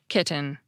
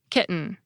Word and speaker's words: kitten: time, I’ll do it with an unaspirated /t/: “ki[t]en.” That probably sounded normal to some listeners, and overly precise to others. Now for my second pronunciation. This time, I’ll do it with a glottal stop: “ki .”